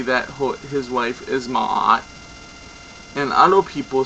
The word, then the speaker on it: Ma'at: And I hope that you enjoyed this presentation of Goddess Ma'at. She is also mainly known that some people call her Mat, for you know, not the right pronunciation.